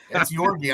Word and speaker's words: Georgiev: Are you sure that you pronounce that Georgiev? Yeah. It is? It's not Georgiev? It's Georgiev? I think, yeah, it's Yorgi. I was calling they're always yelling Yorgi. I'm pretty sure it's Yorgi.